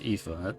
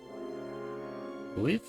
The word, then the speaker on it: Aoife: Yeah, I don't know where they're getting the E in her name from.